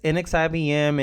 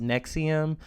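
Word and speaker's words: NXIVM: this video I'm referring to the cult as index IBM and X IBM I didn't learn until after making this video that it's pronounced Nexium so for those watching who already know about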